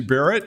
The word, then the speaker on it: Barrett: Steve spra and what is your name bear Barrett yes bear Barrett how do you spell it b e a r there you go